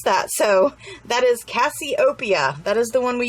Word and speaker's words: Cassiopeia: She also has glitters in this collection, and we used the Cassiopeia, and she told me how to pronounce that. So that is Cassiopeia.